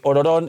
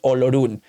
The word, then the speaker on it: Olorun: y encima las traducciones se ha perdido la pronunciación real, porque Ororón es como lo pronunciaría un japonés, Olorun.